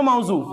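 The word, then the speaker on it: موضوع: এটা কি এ আমি আইন বললে য আরবির মত হয়ে গেল তাই না আচ্ছা তাহলে কি পড়বো মাওজু কি পড়বো মাওজু মাওজু আরেকটা হচ্ছে মুহমাল কি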